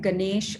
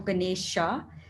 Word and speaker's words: Ganesha: I think the A is more when you're converting from Sanskrit to English, they often put the A at the end. So that pronunciation isn't so different. Like that's quite okay, like Ganesh or Ganesha.